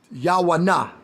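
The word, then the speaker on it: יונה: So it's Yawanah. Yawanah. That's how you say Jonah's name in the Hebrew, how you pronounce Jonah's name in the Hebrew. And this is exactly how you spell it out. Yawanah. This is exactly how you spell Jonah's name out.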